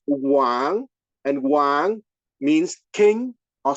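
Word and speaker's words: 王: right you have a Chinese character that is pronounced Wang and Wang means king or Sovereign so I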